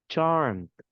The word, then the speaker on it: charmed: Don't pronounce the ED. Charmed.